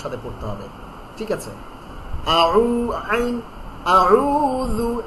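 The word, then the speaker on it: أعوذ: ঠিক আছে, আউযু যাল, জিহ্বার আগা তার বরাবর উপরের দুই দাঁতের আগার সঙ্গে লাগাইয়া, যাল। হ্যাঁ, আউযু বিল্লাহি মিনাশ শাইতানির রাজিম।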